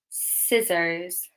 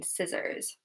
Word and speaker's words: scissors: Okay, and the last one here, scissors. Scissors. Which letter is silent in scissors?